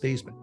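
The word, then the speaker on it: Theismann: He says, "Joe, how do you pronounce your last name?" He said, "It's Steman." He says, "No, actually it's pronounced the Heisman." I said, "No, no, my last name is pronounced Stemann." He said, "No, Joe, your last name is pronounced thighs."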